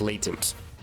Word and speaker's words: latent: It is pronounced with a short with a long a so it is latent. Good to know. Next time I hear somebody pronouncing Latins, don't make fun of them.